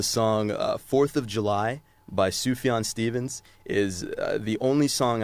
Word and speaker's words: Sufjan: For me personally, the song 4th of July by Sufjan Stevens is the only song I've ever listened to that almost really, really got me to that point of tears.